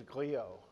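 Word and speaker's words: griot: speaker mot way just corrected me on my pronunciation I view myself more and more these days as a gleo a GLE liberalism's Grio and what a Grio is in West Africa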